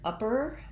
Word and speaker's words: upper: The word upper has first syllable stress, but it has a schwa, a stressed schwa.